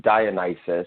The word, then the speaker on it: Dionysus: screw this name up dionysus did i say that right uh uh well pronunciation is a matter of perception but nevertheless it's dionysus and i'm is that